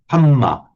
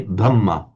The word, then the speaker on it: Dhamma: they'll say Havaye, and the Thais will talk about the Hamma, not the Dhamma. So and they'll often miss out the last syllable as well. So if you hear a Thai talking about the hum or the tom, he's talking about the Dhamma, tom.